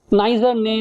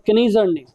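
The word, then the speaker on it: Kneser-Ney: All right, so advanced smoothing algorithms, and we will look at two algorithms today: good Turing and Nizar-Ney or Kneizar-Ney, right? Some people pronounce it as Nizar-Ney, some people pronounce it as Kneizar-Ney.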